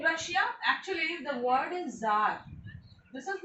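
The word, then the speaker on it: Czar: Okay, in Russia actually the word is Tsar. This is not Tsar, but we used to call it Tsar Nicholas. Actually in the reality it is Tsar. C Z, where the C is silent, and Tsar, we used to call it Tsar Nicholas.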